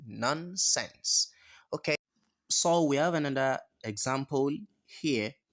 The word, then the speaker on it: ص: If you are pronouncing this a particular Arabic alphabet and then your tongue isn't in between your teeth, then you are pronouncing nonsense. Okay. So we have another example here where Allah said, فَمَا كَاثَ فَمَا كَاثَ.